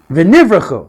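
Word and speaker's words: ונברכו: V'nivrachu.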